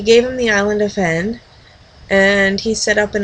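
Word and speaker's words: Hven: island, the island of, spelled H-V-E-N, probably Ven, but I like to pronounce it as heaven because he's studying the heavens and it'll help you remember that way.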